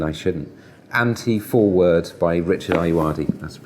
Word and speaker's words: Ayoade: Anti-Foreword by Richard Ayoade, that's the pronunciation.